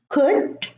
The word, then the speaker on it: could: Also, in the words calm, palm, salmon, and almond. Now, many people say salmon or almond. No, it's salmon. The L is silent.